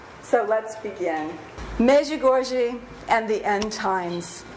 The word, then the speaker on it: Medjugorje: right so let's begin major gorgey and the end-times measure goji that's the way Mickey our tour guide pronounced the name of his hometown I entitled this and the